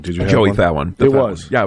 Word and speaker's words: Fatone: Well, technically, you could pronounce it that way, even though it is spelled exactly that way. It's wrong. Spiritually? Or just phonetically?